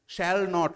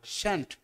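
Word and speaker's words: shan't: warrant had নট হ্যাডেন্ট শ্যাল নট শ্যান্ট শ্যালেন্ট না কিন্তু উচ্চারণটাও কি শ্যালেন্ট না শ্যান্ট will not won't won't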